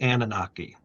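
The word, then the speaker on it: Anunnaki: while back, talk about the return of the Annunaki. Did I pronounce that right?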